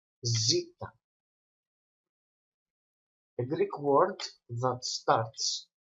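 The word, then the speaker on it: ζήτα: You will have in your mind that the letter zeta is pronounced z, like zoo.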